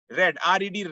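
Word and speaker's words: read: self but विपरीत direct रे डारी deaths where रीडिंग birthday spelling should be आर ए डी ए कि उसकी स्पेलिंग होगी आर रेड्डी वही होगी लेकिन हमको प्रधान तलफ़्फ़ुज़ करना है रेड ठीक है अगर हो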